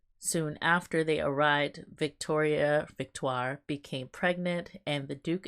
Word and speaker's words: Victoire: the Duchess of Kent whose name is also Victoria although I think she pronounced it victoire victoire who is the mother